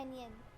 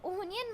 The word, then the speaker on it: anion: और नेगेटिवली जो चार्ज होता है हम उसको कहते हैं एनियन। तो यहाँ पे आप इसको ओनियन मत प्रोनाउंस कर देना क्योंकि इसमें ओनी है, ए है, इसलिए अनियन।